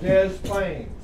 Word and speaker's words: Des Plaines: Called Des Plaines. Des Plaines. That's what the people up in Chicago call it. Des Plaines. They pronounce the S when it's French and it's supposed to be silent, Celeste.